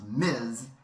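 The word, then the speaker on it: Ms.: the title Ms period which is pronounced Miz as in m Jane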